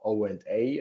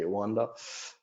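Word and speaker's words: OANDA: So when I comment this out, right, Onda has, or O&A as many say, I since the beginning say Onda, but O&A will be another way of pronouncing it.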